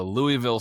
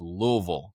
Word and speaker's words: Louisville: I was saying that my whole life it was a Louisville slugger, but then when you actually go there, they say, "No, it's Louisville."